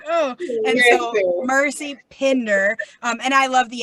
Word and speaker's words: Pinder: So, anyway, that said, we're saying Pinder, Pinder. So if you are above Maryland, we're pronouncing the I.